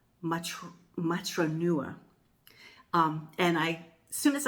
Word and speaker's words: Matronua: Now, I'm probably not pronouncing it right because I'm American and I don't speak Italian, but I think it might be Matronua is the correct pronunciation.